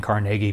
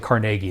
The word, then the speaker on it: Carnegie: when we lived in Pennsylvania, we actually lived in Carnegie, Pennsylvania. Like they pronounce it Carnegie there. If you pronounce it Carnegie, you get yelled at.